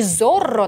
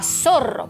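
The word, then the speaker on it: Zorro: На самом деле, по-испански не «Зорро» надо произносить правильно, а «Сорро», потому что «Сорро» по-испански — это лиса.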